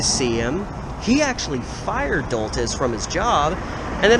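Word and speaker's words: Doltes: I think it's D-O-L-T-E-S. Doltis is how I'm gonna say his name.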